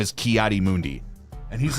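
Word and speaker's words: Ki-Adi-Mundi: characters from uh Star Wars his name is kiari Mundi and he's like what did you just say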